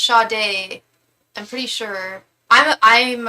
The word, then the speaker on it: Sade: Are you Shade only only puts out a Oh, I think her name's pronounced Shade.